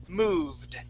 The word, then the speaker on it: moved: The first word is moved. Okay, so Moved. Right. There you go. Moved. So that ED ending sounds like a D.